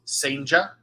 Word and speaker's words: Cijntje: You may have seen his name written and not know who I'm talking about because his last name is spelledCijntje. That is pronounced Senja. Jurangelo Senja is a switch pitcher for Mississippi State.